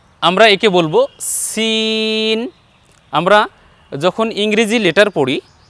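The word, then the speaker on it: سين: করছি দেখুন আমরা বলছি সিন সিন যখন আমি উচ্চারণ করছি তখন আমার ঠোঁট কিন্তু বাঁকা হচ্ছে না আর এরপরে যখন শিন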